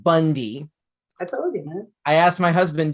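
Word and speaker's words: Bounde: the issue is that our last name is spelled b-o-u-n-d-e pronounced bundy man i asked my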